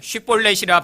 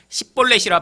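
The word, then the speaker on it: שִׁבֹּלֶת: 그에게 말하되 쉿볼렛이라 발음하라 하여 에브라임 사람이 그렇게 바로 말하지 못하고 십볼렛이라 발음하면 길르앗 사람이 곧 그를 잡아 요단강 나루턱에서 죽였더라.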